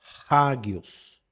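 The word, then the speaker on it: ἅγιος: áspera, que nesse caso o A aí precisa ser pronunciado com o som do H antes. Então você não vai falar águios, mas você vai falar águios. Raggios.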